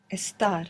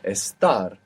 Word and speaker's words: estar: Estar. Estar.